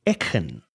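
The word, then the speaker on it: Eachann: I got E A C H A N which is each with an A N at the end, but that's not how you say it. And I've been trying to rack my brain around how to say it. And it seems as though it's something to the effect of een.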